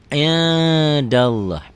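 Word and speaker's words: عِنْدَ اللّٰهِ: Indallah, hukumnya apa? Ikhfa. Kenapa? Karena nun mati ketemu dal. Tuh, nun mati ketemu dal. Bacanya gimana? Indallah. Indallah. Tuh, n-nya ada g-nya. Indallah. Tapi nggak begitu kali. Indallah ya, nggak begitu bindeng.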